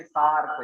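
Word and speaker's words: SAARC: Country से ही है, तो इसको मिला के पढ़ते आप, ब्रिक्स बोल के पढ़ते हैं, इसको BRICS नहीं पढ़ते, इसको SARC नहीं पढ़ते, इसको हम मिला के प्रोनाउंस करेंगे नासा, इसको हम मिला के पढ़ेंगे सार्क, इसको मिला के पढ़ेंगे ब्रिक्स। तो ऐसे जो आप एक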